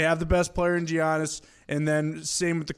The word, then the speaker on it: Giannis: Apparently the G is silent, but like Zito has said, I've heard it both ways. Giannis.